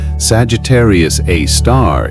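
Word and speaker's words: Sagittarius A*: It has a name Sagittarius A star pronounced a star.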